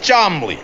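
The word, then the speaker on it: Cholmondeley: And this is my Uncle Chamandiali, pronounced Chomley.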